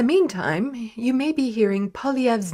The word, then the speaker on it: Poilievre: Party of Canada and kids finally five it's pronounced POV PV as the leader of the official opposition